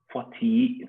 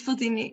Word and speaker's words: Fotini: Okay, next I've got Fotili. Have I spelled that correct? I've pronounced that correct. Fotini? It's Fotini, yes.